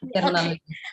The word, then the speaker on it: Tirunelveli: And she has been awarded with PhD in Commerce from Manon Maniam Sundaranyar University to Tirunelveli. Am I pronounced correct? Yeah, Tirunelveli.